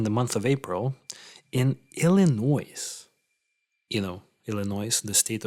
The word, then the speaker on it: Illinois: I mean, Without the S. on Wikipedia it's with the S, so I think it's pronounced as Illinois.